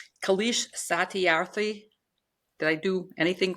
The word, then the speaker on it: Kailash: I love it, but it's Kailash Satyarthi. Did I do anything close to his name? Close. Close. Kailash. Kailash. Kailash Okay, Kailash, but Satyarthi.